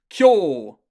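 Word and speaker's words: 今日: written like that and that just means like an elongated o sound kyo um i don't like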